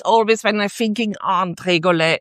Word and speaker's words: Tregole: And that's why the name of Tregole, it's pronunciated not in a Latin way, but the meaning is of a hill with 3 tiny valleys around.